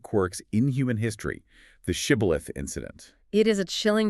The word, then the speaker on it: shibboleth: would make him say the Hebrew word shibboleth, which means an ear of grain or a flowing stream. Right. But the Ephraimites had a different regional dialect. They couldn't pronounce the sh sound. The text says he could not frame to pronounce it right, so he would say sibboleth.